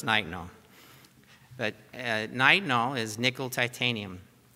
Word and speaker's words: nitinol: made of nickel titanium which you pronounce nitinol I'm from North Carolina so when I first saw what i call it nitinol but now I've learned that it's night now but nitinol is nickel